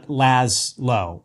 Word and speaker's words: Laszlo: So, it's laz low. I apologize. But actually, for NPR, you know, I've got my own uh bureau or cover congress for all these NPR stations and da da da. Um, whenever I give my name to an NPR host, I always spell it out phonetically, Laz- L W.